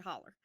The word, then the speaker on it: hollow: question what is a holler holler hollow oh as a hollow yeah that's how it's spelled it's spelled hollow and we pronounce it holler but a hauler a